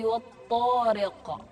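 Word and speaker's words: الطارق: Was-samaa'i wat-tariq. Wat-tariq. Dia ada di akhir ayat, maka dibacanya adalah qalqalah kubra.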